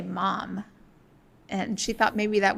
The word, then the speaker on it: Somerset Maugham: to tell me that I said Somerset Maugham, which I did, and you just say Mom.